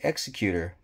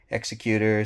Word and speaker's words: Executor: So some people say Executor, some people say Executor, you know, depends on, I guess, which side of the pond you're on. But the way it's spelt like Executor.